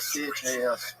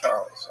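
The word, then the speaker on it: Chas.: Yeah, it's spelled C-H-A-S period T period M-A-N. Oh, Chas T. Main. Yeah, but it's Charles.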